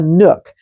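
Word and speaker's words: nuc: By the way, do you know what a nook is? That's spelled n u c. A nook.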